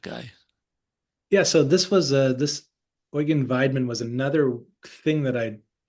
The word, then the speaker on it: Weidmann: Do you say Weidman? Is that how you pronounce Yes, it?